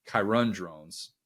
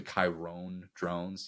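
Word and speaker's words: Kyron Drones: by that stat because kirun drones that's actually how you pronounce his name I got it wrong last time too um he was not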